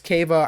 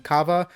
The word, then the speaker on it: Kaveh: respective tiers next up is Keva I think some people pronouncing Cava uh I put them like